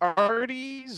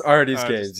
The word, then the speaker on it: Artisgames: playing some Blitz with, is it Arties or Artisgames? It's Artisgames. You said it right. I was just messing with you. Because it looks like Artist, because there's no apostrophe in there.